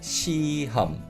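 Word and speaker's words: 시험: exams okay so the word exam in korean is shi hum shi hum but when we say this word in natural fast speech the hear in the second syllable is never pronounced clearly and i think most of the time if people say naturally in fast speech it's the sound basically disappears entirely i don't think i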